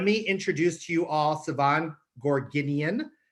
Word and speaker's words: Sevan: introduce to you all siobhan gorginian did i pronounce that right siobhan two thumbs up i wish you were